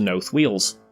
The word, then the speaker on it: North Wales: We come to North Wales. As you might have figured out by now, this is the Potteries pronunciation for North Wales.